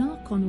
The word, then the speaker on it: archon: the services of an archon or two are con that's how you say it archon and thereby gain